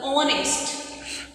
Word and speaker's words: honest: Similarly, the honest. Here also H is silent letter. That is why it is also considered as vowel sound.